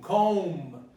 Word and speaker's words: comb: Tomb, comb. So every time there's a ma and a ba, you're going to pronounce only the ma.